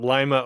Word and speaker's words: Lima: when you talked about Lima, Ohio, because it is spelled like Lima, Peru, but it is pronounced Lima for those that are in Ohio.